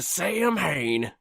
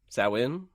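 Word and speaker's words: Samhain: part of doing that sawin sawin that's how that's the supposed to be the the proper pronunciation started again October 15th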